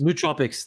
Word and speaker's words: nootropics: uh was it no objects no nootropics nootropics nootropics there we go kind of pronounce it it's weird one so it's n